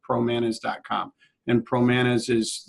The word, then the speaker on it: Promanas: man is calm and pro Manas is like rhymes with bananas PR o MA and